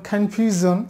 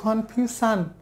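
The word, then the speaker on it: confusion: সো এটার উচ্চারণ হচ্ছে জ, জ, যেমন কনফিউশন আমরা বলি কনফিউশান, ভুল বলি, এটা হবে কনফিউশন, টেলিভিশন, কনক্লুশন, ইনক্লুশন,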